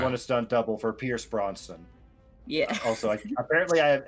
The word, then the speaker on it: Brosnan: You want a stunt double for Pierce Brosnan. Yeah. Also, apparently I am incapable of pronouncing his last name properly. I'm not going to work on it. Bronston.